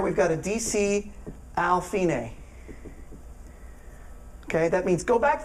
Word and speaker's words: fine: It's Italian, though. It's not an Americentric thing. Then the next line, DCL, and it looks like fine, or DSL fine, but it's actually pronounced fine, and that means go to the end.